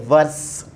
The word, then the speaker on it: verse: words I'm just saying verse verse verse ve r SE verse verse British extent is you know verse verse they you know they don't pronounce the R you know the under